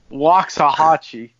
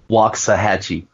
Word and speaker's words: Waxahachie: Yeah, I had no idea he was trained by Killer Tim Brooks in Waxahachie. Waxahachie. Whatever that town's called. It used to be cool. Now it's now if you're ready to end Waxahachie.